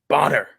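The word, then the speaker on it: Bohner: always argues that, okay, it's not pronounced Boner, it's pronounced Bonner.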